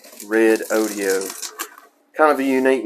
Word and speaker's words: Redodo: I'm pronouncing this correctly I checked their website they pronounce it red audio kind of a unique